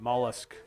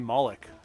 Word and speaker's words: mollusk: of the mollusk well I said it right mollusk yes people want to say maulik like that villain from what was it Watchmen I'm a Watchmen fan